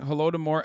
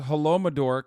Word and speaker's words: Holodomor: Plus, he's still pronouncing Holodomor as Holomador.